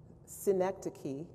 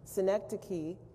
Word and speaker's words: synecdoche: If you know how to pronounce that last word on the English side, anybody? Richard? Synecdoche. Okay, he learned something today. That's all he wanted to do. Synecdoche, that you will have seen that word before